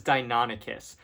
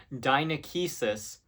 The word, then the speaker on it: Deinonychus: All right, so next up is Deinonychus, which I called Dinonychus so often that I still catch myself doing it to this day.